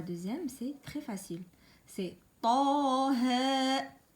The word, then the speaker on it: طه: Ah, ici c'est grave et là c'est aigu. On dit pas طه et on dit pas تاه. Il faut pas prononcer les deux graves et non pas les deux aigus.